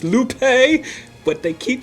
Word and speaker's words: Lupe: and licensed to kill and it's like it's lupe but they keep saying loopy that's cree in the background if